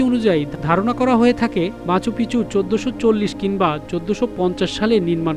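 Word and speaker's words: Machu Picchu: স্পেনীয় উচ্চারণে শহরটির নাম মাচু পিচু হলেও অনেকেই এর নাম উচ্চারণ করেন মাচু পিকচু হিসাবে, যার অর্থ পুরনো।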